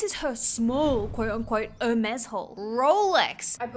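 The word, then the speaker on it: Hermès: would probably know that it's pronounced Hermes or something similar and not Hermes.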